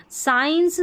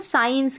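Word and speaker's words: science: यहाँ पर ये जो मुख्य स्पेलिंग है ना साइंस की है, ठीक है, यहाँ पर साइंस में एस सी को हम स पढ़ रहे हैं, ठीक है, ए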